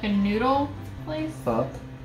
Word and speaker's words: pho: That was spelled pho. It is spelled pho, but it's pronounced pho.